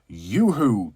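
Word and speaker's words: Yoo-hoo: is a bottle of Yoohoo chocolate drink I mean it just pronounced YooHoo yeah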